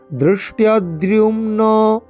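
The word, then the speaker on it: ধৃষ্টদ্যুম্ন: দৃষ্টদ্যুম্ন দৃষ্টদ্যুম্ন, দৃষ্ট দয়েরই মধ্যনাংশটা হয় মূর্ধা উচ্চারণ করতে হবে, জিভকে উল্টো করে বেঁকিয়ে একদম উপরের অংশে ঠেকিয়ে।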